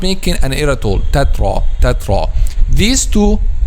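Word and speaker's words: تترا: this by saying we can make two wrong pronunciations here. The first one is making an excessive air, tetra, and not making an air at all, tatra.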